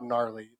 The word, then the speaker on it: gnarly: So it's like gnome.